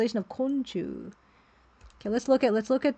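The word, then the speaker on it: 昆虫: Konchu Art Saga says a which means group and companions and mushi the the kanji for mushi can be pronounced as chu. So it's like a group of bugs and insects. Konchu.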